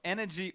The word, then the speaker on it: NRG: hashtag IMT wi or energy n Win it's pronounced energy apparently but n is the spelling of the team don't worry too much